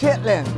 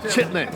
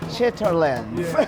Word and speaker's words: chitterlings: Now, if you looked at it written on paper, it might look like chitterlings, but I believe that's not how it's pronounced. Chitlin. Yes. Chitlins.